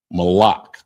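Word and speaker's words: malach: goods under salt and it's pronounced mala malac. So uh it's spelled m a l a c h.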